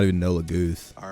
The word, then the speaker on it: Laguz: Shout out to the best Lagas. I don't know how to pronounce that. Shout out to the best Lagas King, Tibern. Laguz, thank you.